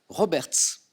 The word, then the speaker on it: Roberts: l'entends derrière moi bravo on prononce le S ou pas Roberts avec un S qui se prononce miton derrière moi parce